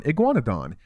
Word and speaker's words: Iguanodon: it up here yeah that's how you freaking pronounce it iguan oon Iguanodon and um it says it takes microraptor kibble